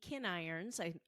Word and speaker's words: Kinirons: episodes, adoptive mom Francine Appy, birth mom Katie Kinirons, that's how you pronounce it, Mejia, and adoptee Allison Olson.